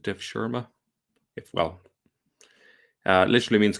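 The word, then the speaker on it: devşirme: servants um this system was called I think you pronounce it uh Dev Shera um it this term here uh I think is you pronounce it def Shera if well uh literally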